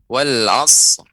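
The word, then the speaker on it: العصر: Tinggal sedikit tadi cuman wal 'asr. Itu dipanjangkan wal 'asr.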